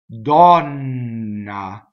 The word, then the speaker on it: donna: Donna. Double N. See? A lot of effort on that N, right? Open O. Donna.